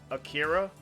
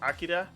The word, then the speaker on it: Akira: And I'll say it with an American accent. Akira, which is actually pronounced Akira.